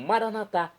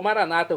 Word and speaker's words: maranatá: E agora eu clamo maranatá, como dizemos nós católicos, ou maranata, como dizem nossos irmãos separados das comunidades evangélicas ou protestantes. Não importa pronúncia, o significado é o mesmo.